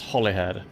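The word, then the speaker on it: Holyhead: i shouldn't have doubted it's pronounced hollyhead ah goddammit it's not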